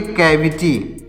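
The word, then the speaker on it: cavity: सी के आगे यहाँ पर ए लिखा गया है, तो सी के आगे ए आ जाएगा, तो इसका भी प्रोनाउंसिएशन उच्चारण क्या होगा? का होगा। तो इसको भी पढ़ेंगे केविटी, इसको पढ़ेंगे कैविटी।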